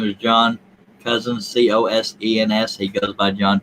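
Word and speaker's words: Cosens: his name is john cousins c-o-s-e-n-s he goes by john p.a cousins that's pronounced cousin c-o-s-e-n-s yes hello john n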